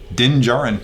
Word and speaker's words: Din Djarin: It's Din Djarin. Din Djarin. Yeah. And by the way, I tried to spell that thing 3 times before I got it right.